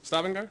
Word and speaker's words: Stavanger: Stavanger, thank you.